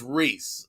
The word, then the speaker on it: Rhys: when you see him but not rice is pronounced rhys r-h-y-s that's it griffray's two rip reach jones